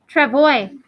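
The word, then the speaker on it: travois: the next page lodge travoy yeah so this is a french word and in a lot of the french words you don't pronounce the s it's a silent s trevoy confederacy iroquois confederacy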